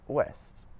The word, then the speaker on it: ouest: OU at the start of the syllable makes a W sound, just like in the English words woman and west. Some French examples are ours et ouest.